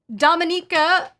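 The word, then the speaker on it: Dominika: people mispronounce my name it should sound like Dominique but with an added uh at the end okay Dominica okay um I love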